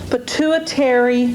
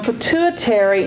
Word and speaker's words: pituitary: is the endocrine system pituitary gland and on pituitary notice it's spelled pit UI ter R tar y pit U I ter it's not pronounced quite the way it's spelled and so you have